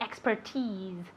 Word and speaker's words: expertise: Expertise. Expertise. Okay? It's difficult to pronounce, isn't it? Expertise. Remember that x. X. It's like K, S, X, X.